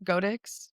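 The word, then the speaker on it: Godox: Godex I think is the right way to pronounce it.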